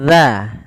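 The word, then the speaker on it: ذ: Huruf zal itu makhrajnya kita ulangi ujung lidah kita. Ujung lidah itu bertemu dengan apa? Gigi seri atas. Gigi seri atas. Maka bagaimana pelafalannya? Dza.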